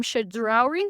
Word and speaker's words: Chedraui: me and Justin, and that is ordering from Chedraui.